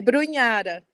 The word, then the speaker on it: Brunhara: E eu tinha perguntado antes a pronúncia do seu sobrenome, se é Brugnara ou Brunhara? É Brunhara.